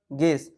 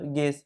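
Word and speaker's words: guess: জেনে রাখার স্বার্থে যে যখন জি লেটারটির পরে ইউ লেটারটি আসে তারপরে যে ভাবে লেটারটি থাকে সেই ভাবে লেটারটির উচ্চারণ হয় এবং ইউ লেটারটি কিন্তু সাইলেন্ট অবস্থায় থাকে মানে ইউ লেটারটির উচ্চারণ হয় না ঠিক আছে যেমন গিটার গেস এখানে দেখো ইউ লেটারটির উচ্চারণ হচ্ছে না কিন্তু ই লেটারটির উচ্চারণ হচ্ছে গেস ঠিক আছে সো এটা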